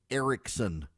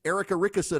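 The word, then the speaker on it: Erickson: you this is true they cannot say Ericson they can't do it it is physically impossible in south Georgia your host and this show is not Eric Ericson and the Eric Ericson show it is Erica rickerson and the Erica rickerson show they they cannot do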